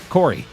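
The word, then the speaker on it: Cori: Although she prefers the name Coco, Goff's first name is pronounced the same as her father's, Corey.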